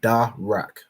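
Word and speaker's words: דרך: r and a c the da is separate and you'll know that by this um this Arch and signifying that this letter is pronounced separately so da and then the r and the car are joined signified by this upside down Arch joining these two letters together to make rack so da Rak and that word means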